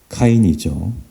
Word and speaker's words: 카인: 가인을 갑자기 소환하고 있습니다 가인은 본래 발음으로 카인이죠 카인이란 이름은 본래 좋은